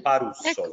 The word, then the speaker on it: Parussolo: alla dottoressa Noemi Parussolo, credo si pronunci così. Imbarazzante, nel senso che qui ci sono state una serie di ipotesi, questa è quella ufficiale, Parussolo. Ed è quella corretta. È più difficile trovare dove mettere l'accento anziché la questione INAD